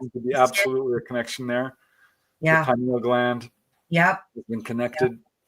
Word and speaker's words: pineal: connection of the I I always call it the panal gland is that the right way to say it pineal pineal whatever um that the